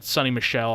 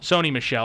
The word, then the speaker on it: Sony Michel: very emotional I mean sunny Michelle had a toe sony Michelle I should I should say I keep getting his name mispronounced Sony Michelle I know